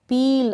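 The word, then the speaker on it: peel: P को प, पील। अब इनको मिल, पिल, सिल इस तरीके से नहीं पढ़ेंगे, लंबा उच्चारण होगा EA का।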